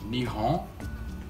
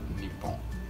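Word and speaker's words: 日本: Nihon or Nippon? Yes. Japan in Japanese is Nippon or Nihon.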